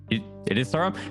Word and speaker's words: Surim: Oh, sorry, it is Surim. So he said it right then.